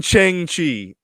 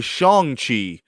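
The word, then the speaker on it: Shang-Chi: chang chi now um now you keep saying chiang chi that's his name shang you're saying chang like like change is it shang shi well actually it's pronounced apparently shang chi but i'm going to continue to say okay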